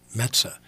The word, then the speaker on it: Metza: I go, Metza. It's like the New York Mets with an A at the end.